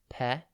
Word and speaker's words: petulant: Today's word is petulant. It's pronounced pe-tu-lunt, and it's spelt P-E-T-U-L-A-N-T. Think pet, then the letter U, and then lant.